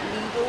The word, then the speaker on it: Lidl: I don't know, how do you pronounce it in your country? Is it Lidl or? Lidl. That's right.